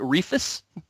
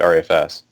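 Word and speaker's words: ReFS: saying our EFS and people you guys not pronounce it Rufus no I've never heard anybody pronounce that Rufus we usually hear pronounced at our FS that's probably a better I'm sure I'm sure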